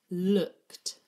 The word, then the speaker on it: looked: we did it earlier, the T sound at the end is actually made with E-D. So we've got O-O-K, look, and then it ends with E-D. That's what's making that T sound.